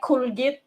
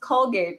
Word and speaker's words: Colgate: say the same as can can i buy corgit it's pronounced colgate right and then piso yeah